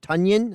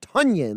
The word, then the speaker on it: Tonyan: about the fact that Robert Tonyan is now Robert Tunyon. I don't know if you saw that. They came out with a clarification of the pronunciation of his name. So Robert Tunyon, like Funyun.